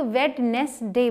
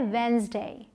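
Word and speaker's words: Wednesday: अब है ये दिनों के नाम में बहुत ही इम्पॉर्टेंट वन, जिसे बहुत सारे लोग वेडनेसडे बोलते हैं, राइट। इसे आप प्रॉपर डी का साउंड लाते हैं, वेडनेसडे, लेकिन ये है वेंसडे, वेंसडे। और आप पाएंगे मैंने यहाँ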